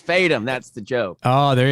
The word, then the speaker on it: Fadem: Me, Josh Fadem, not pronouncing your name correctly. It's Fadem.